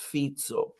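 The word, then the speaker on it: Fico: Fe to give it's written F but it's pronounced fito has been under Relentless abuse from also all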